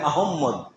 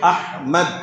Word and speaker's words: আহমদ: কেউ বলে আহম্মদ, কেউ বলে আহমদ, কেউ এক একজন এক একভাবে বলে, কিন্তু কোরআনে এই নামটা যেভাবে এসেছে এটা উচ্চারণ হচ্ছে আহমদ।